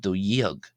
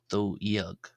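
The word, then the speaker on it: dó dhéag: we always have jug apart from the number 12 where we have do yug. This dh here is pronounced as a y uh as a y sound. So yug do yug.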